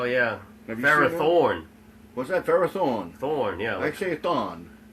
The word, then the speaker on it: Ferrothorn: Ferrothorn. What's that? Ferrothorn. Thorn, yeah. I say thorn. Why he's running a marathon? Because I got a different accent. Are you fucking not pronouncing that ah? Ferrothorn. Ferrothon.